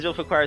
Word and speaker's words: Zulfiqar: Zulfiqar says, by the way, it is pronounced Zul... I think the font size is a little too small. Zulfiqar. Zulfiqar. I think.